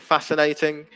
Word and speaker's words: fascinating: um we've got um fascinating yeah that's a brilliant example silent c and fascinating um follow yeah follow